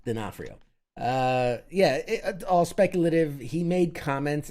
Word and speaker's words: D'Onofrio: Dinafrenio. It's like an Italian dish. Dinafrenio. No, it's D'Onofrio.